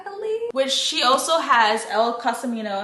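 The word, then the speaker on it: Elle Cosimano: So in this Finlay Donovan series, there is 5 books, I believe, which she also has El Casimano, that's how you say it, El Casimano, that's the author.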